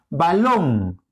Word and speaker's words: balón: tiene su propio acento mira balón acento en long sexto acento en ses